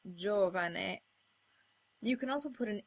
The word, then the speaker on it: giovane: As with C, you can put a J in front of any vowel by putting a silent I in between. This gets you words like giovane.